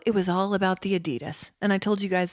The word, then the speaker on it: Adidas: was all about the Adidas and I told you guys that Asher used to pronounce it adidos which is my favorite thing yeah adidos